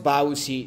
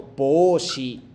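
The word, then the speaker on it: 帽子: Primero, no es Baushi, sino Boushi. Boushi.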